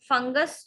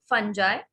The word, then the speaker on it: fungi: Okay, यहाँ पे फंगस जो होता है उसका प्लूरल होता है फंजाई. फंगी भी बोलते हैं इसको. कभी आपको प्रोनाउंसिएशन फंगी मिलेगा, कभी आपको फंजाई मिलेगा, कभी आपको फंगाई मिलेगा, तो उसमें कंफ्यूज होने की जरूरत नहीं है. तो वन is British and the other one is American.